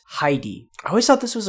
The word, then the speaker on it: Heidi: imported into Japanese but I think it's best to just pronounce it like the original German would be so it's Heidi I always thought this